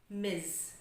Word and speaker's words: Miss: Sangat short. Dan di akhirnya seperti ada Z. Miss.